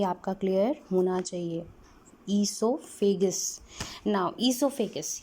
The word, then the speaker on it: esophagus: Pronunciation भी आपका clear होना चाहिए. ईसोफेगस.